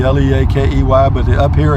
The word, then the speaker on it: Leakey: Junction is 70 miles Leakey it looks like Leakey l EA ke Y but up here it's pronounced Leakey so enjoy the drive ladies and